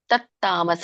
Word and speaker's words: ತತ್ತಾಮಸ: ಅತತ್ವಾರ್ಥವದಲ್ಪಂ ಚ ತತ್ತಾಮಸ ಮುದಾಹೃತಂ ತತ್ತಾಮಸ ಇದು ನೋಡಿ ತತ್ತಾಮಸ ಅಲ್ಲಿನು ಒತ್ತಕ್ಷರ ಬಂದಾಗೆ ಹೇಳಬೇಕು ತಕೆತವತ್ತು ತತ್ತಾಮಸ ಮುದಾಹೃತಂ ಗ್ಯಾಪ್ ಬಿಡಬೇಡಿ ಸ